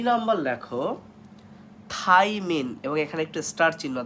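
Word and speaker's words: Thymine: আর যেটা nitrogen base, এর বানানটা কিন্তু থাই, THY, থাই, তারপর মিন, MINE। সো এখানে থায়া কখনোই হবে না।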